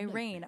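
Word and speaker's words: Reign: But this one is called Nightmare and it is by Rain. R E I G N. Spell it just like that.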